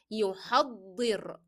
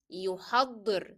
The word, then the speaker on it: يحضر: Make sure that you are pronouncing ضاد as a hard letter and stress on it as it is carrying a shadda. So it is يحضر. يحضر.